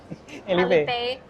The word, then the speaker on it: Alipay: Alipay atau Alipay? Alipay. Ya, Alipay.